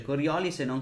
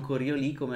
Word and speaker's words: Coriolis: Sci-fi, ho chiesto alla Weird, si legge Coriolis e non Coriolì come la forza di Coriolì, è proprio Coriolis.